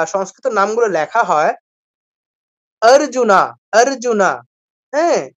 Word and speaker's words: অর্জুন: করে অ আছে তো সংস্কৃতের নিয়ম হচ্ছে কি আমাকে শেষের অক্ষরটার সাথে অবশ্যই অটা বলতে হবে অবশ্যই আ টা বলতে হবে আমি বাংলায় বলব বানর বাংলায় বলবো কি বানর সংস্কৃতে বলবো কি বানারা বাংলায় বলি রাম সংস্কৃতে বলবো রামা বাংলায় বলি অর্জুন সংস্কৃতে বলবো অর্জুনা আপনারা খেয়াল করবেন ইংলিশে